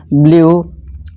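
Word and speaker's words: blue: अब rule number 5 क्या कहता है, जब किसी वर्ड के लास्ट में यू ई आए तो यू ई को डबल बड़ा ऊ से पढ़ें। ठीक है, जैसे एग्जांपल देखिए, ब्लू, ट्रू और क्लू।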